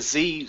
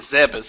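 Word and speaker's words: Zebes: But yeah, like I said, I Yeah, that for the longest time I thought it was Planet Z, but no, it's Planet Zebas.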